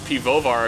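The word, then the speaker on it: Piwowar: I'm Mike Piwovar. It's technically pronounced Piwovar if you want to do it the Polish way, and it means the beer maker.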